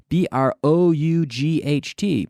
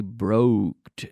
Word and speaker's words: brought: English that's not necessary we have BR o ug HT but you can't say broked nono brought brought brought so pronunciation hear these